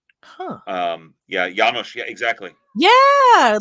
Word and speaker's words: János: That one, that's actually pronounced János. János with an H. Yeah, emphasis on the first syllable. János.